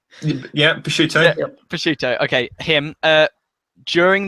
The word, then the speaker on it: Picciuto: I would say my intros and outros inspired by, I don't know how to pronounce his second name, David Picciuto. Yeah, Picciuto.